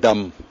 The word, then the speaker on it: dumb: a long-term suspicion of Dumb and how I got to it was I realized that you say d MB and D oom pretty much the same way the B is silent right free Dum f